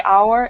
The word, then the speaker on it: hour: there's a vowel sound so hour the H is silent so instead of a hour it's an hour okay any questions about